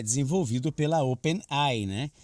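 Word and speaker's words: OpenAI: ele é desenvolvido pela Open ein né Open Eye Seria o certo da pronúncia aí que é uma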